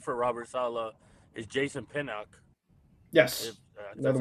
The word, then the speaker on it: Pinnock: A guy that I don't know if ChatGPT brought up, but played for Robert Saleh is Jason Pinnock.